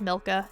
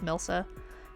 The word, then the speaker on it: Milcca: Whenever I raid someone or whenever I go talk to anyone who's streaming, they always pronounce it Milka. It is not Milka. It is Milsa.